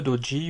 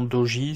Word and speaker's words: doji: alors dans cette vidéo je vais présenter le dodji ou le doji alors moi je préfère lui la prononciation doji c'est plus simple maintenant certains l'appellent également dodji donc je n'y vois aucun inconvénient à l'appeler comme ça également alors le doji est